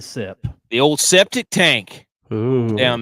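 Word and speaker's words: Sepp: goat type of Step actually take out the tea it's a set it's a sep the old septic tank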